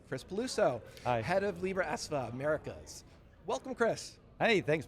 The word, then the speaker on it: Libra Esva: Yeah, there is a lot of history around that, and thank you for pronouncing it correctly, Libra ESVA.